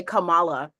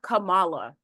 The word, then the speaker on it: Kamala: annoys me is people say Kamala it is not Cala she when she says her name it is Kamala folks still um love to insist on calling her Camala right that's not how you say her name and I think that